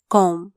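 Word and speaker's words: comb: ए R where कोनो सी ओ एम बी कॉम B silent हुचा सी ओ एम बी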